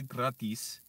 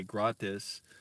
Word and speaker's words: gratis: of e in Spanish the letter I in Spanish is e that's how you pronounce it so I mess it